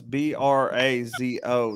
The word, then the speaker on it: brazo: you have something that's b-r-a-z-o that's brazo it's brass us like us it's how to pronounce it ain't got no it ain't got no u in it what's up i thought